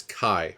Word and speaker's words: Kye: to tell that guy that his name is Kai by the way he goes by Kai uh